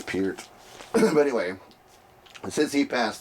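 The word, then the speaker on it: Peart: the passing of Neil Per or Pert. I always say even though I know Per's not the right way to say his name, I still like saying it. Per. It's Pier.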